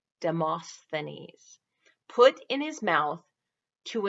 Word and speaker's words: Demosthenes: What did the Greek orator Demosthenes, let me say it correctly, Demosthenes, put in his mouth to improve his speech, to improve his speaking ability?